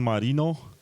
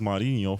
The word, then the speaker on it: Marino: presidential debates and I'm join joined by Marino it's actually pronounced marinho for all the Nerds out there and he's